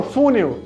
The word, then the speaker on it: funil: Qual é a sílaba forte? É fu? Não, não falo funil. Funil. Eu falo funil. Funil. A última sílaba aqui é mais forte.